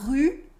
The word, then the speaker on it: rue: When learning French, people often can't make the difference between the U and the OU.